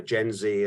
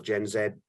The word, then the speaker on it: Gen Z: upper coming you know gen Z and or gen Zed uh if you choose to pronounce it we know that ethical